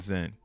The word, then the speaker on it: XEN: They already thought it was cool because it's Zen with an X. Like, oh, this is Zen. Zen. I like when people spell it out. XEN, like they can't put like their mind isn't programmed to say Z when they see X.